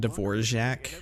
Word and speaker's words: Dvorak: I'm so sorry Shin yen that's how you pronounce his name Dvorak I'm gonna have trouble saying people's names in